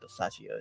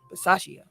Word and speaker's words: Versace: need us to uh versace is how you pronounce it say it again versace okay sound like yachtia sound like versace that's gonna help me